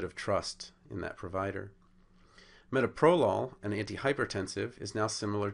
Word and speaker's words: metoprolol: Metoprolol becomes metoprolol. Again, we're changing that accent from the second syllable to the first, and we're going from two open syllables, one closed syllable, to two closed syllable, one open syllable, a much more comfortable thing for an English speaker to use.